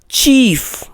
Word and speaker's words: chief: अब next spelling देखें, CHIEF। इसका करेक्ट प्रोनाउंसिएशन है चीफ, यानी CH यहां च साउंड दे रहा है।